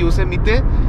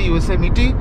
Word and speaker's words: Yosemite: আমি তো যখন প্রথম ইউএস এসেছিলাম তখন ওটা পড়ে বলেছিলাম যে ইয়োসেমাইট, মানে একদম লিটারাল প্রোনাউন্সিয়েশন করেছিলাম ইয়োসেমাইট। তারপরে মনে হলো, তারপরে কারোর থেকে শুনেছিলাম হয়তো একটু অন্যরকম, সে অন্যরকমটা নিজের মাথায় করে নিয়েছিলাম ইয়োসেমিতে। তারপরে ফাইনালি গুগলে সার্চ করলাম, করে জানলাম ইট ইজ ইয়োসেমিটি।